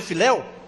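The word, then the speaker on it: phileo: amor o amor filel Como cham né se pronuncia filel é escrito p h i l e o eu li F né mas dis que é filel que o amor fil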